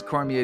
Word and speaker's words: Cormier: I assumed it was Cormier, but Canadian. Yeah. Sometimes you use the French pronunciation and people get very upset. Yeah. Yes. Yeah. I don't get upset. It's always Cormier down here.